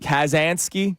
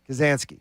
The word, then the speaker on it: Kaczynski: Kazansky? No, Ted Kaczynski was the Unabomber. That's the Unabomber. Kazanski. Kaczynski.